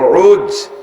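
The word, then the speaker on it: عوج: এর আরবিতে উচ্চারণ হলো আইন ও জিম, উজ।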